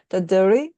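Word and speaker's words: Dadirri: just listening to you talk, and I know here in Australia the Aboriginal peoples do have a term called, I think it's pronounced daduri, and it's that listening,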